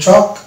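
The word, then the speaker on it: chalk: যেমন এই যেটা এ এল কে আগে ভাইল আছে এ, তাহলে এটা এল সাইলেন্ট হয়ে যাবে, অর্থাৎ এটা হবে টক, অনুরূপভাবে এটা হবে চক, ওয়াক, ইয়ক, ফক।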